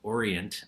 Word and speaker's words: Oriient: Has partnered with one of our LBMA members, which is called Oriient, and that's spelled ORII there, ENT.